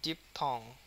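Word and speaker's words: diphthong: Realise আচ্ছা ডিপ থং ডিপ ডিপের উপরে প্রচুর স্ট্রেস থং এর উপরে কিন্তু কম।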